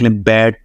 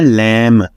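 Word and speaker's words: lamb: बी जो है बे की आवाज देगा और इसको आप एग्जांपल्स देख लें। बैड बैड ban bark break.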